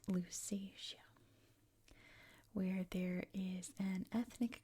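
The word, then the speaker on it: Lusatia: That is in English at least it's pronounced Lucasia where there is an ethnic group of people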